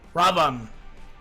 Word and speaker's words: Ravana: Ravan. Not Ravana. Ravan. You do not pronounce the A at the end.